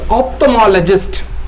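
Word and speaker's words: ophthalmologist: கண் மருத்துவருக்கு கண்மருத்துவருக்கு ஆப்தமாலஜிஸ்ட் ஆப்தமாலஜிஸ்ட் ஆப்தமாலஜிஸ்ட் ஓபிடி ஆப்தமாலஜிஸ்ட் ஆப்தமாலஜிஸ்ட் ஆப்தமாலஜிஸ்ட் ஆப்தமாலஜிஸ்ட் ஆப்தமாலஜிஸ்ட் இதை ஆப்தல்மாலஜிஸ்ட்ன்னு உச்சரிச்சிடக்கூடாது ஆப்தமாலஜிஸ்ட் கண் கண் சம்பந்தப்பட்ட நோய்கள்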